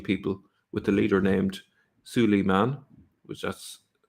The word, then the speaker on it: Suleiman: think it's Neil Diamond has a song called Suleiman that's exactly how it's pronounced better than aside okay now we're on